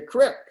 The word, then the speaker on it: creek: to be there in the crick that's how you say it in hoosier language in the creek uh for those of